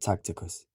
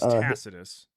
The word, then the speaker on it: Tacitus: It's Taticus, not Tacticus. Yeah. Also, that's the point. Tact Tacticus. When? Can you tell me when? Can you tell me when his name is Tacitus?